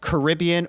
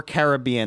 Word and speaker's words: Caribbean: There's a song where the lyric is like Caribbean or Caribbean, like that whole sentence is a lyric to rhyme the different way of pronouncing it.